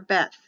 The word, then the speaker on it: Beth: for numbers the second letter is b for beth b-e-t-h or b-e-t both are correct for the pronunciation of the letter but the letter is